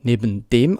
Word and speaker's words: neben dem: Und die Aussprache ist auch wieder sehr eng zusammen mit neben. Also wir machen fast keinen Unterschied. Neben dem. Es ist wie ein einziges Wort.